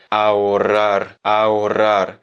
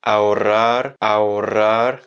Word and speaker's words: ahorrar: Se dice ahorrar.